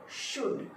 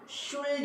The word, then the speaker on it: should: तो हम जब इस वर्ड को बोलेंगे SHOULD, तो बोलेंगे शुड. शुल्ड नहीं बोलेंगे, क्या बोलेंगे, शुड.